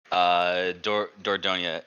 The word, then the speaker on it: Dordogne: It's a French title. Dordogne.